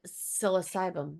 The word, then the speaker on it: psilocybin: And psilocybin, right? Yeah, that's how you say it.